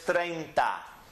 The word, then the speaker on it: treinta: were they trained Todd the next number is treinta is two syllables trained da treinta read it treinta now the correct way